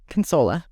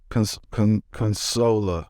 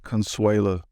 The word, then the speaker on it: Consuela: Consola. Consola. Very easy. I've always been saying like Consuela. Yeah, there's no U in it.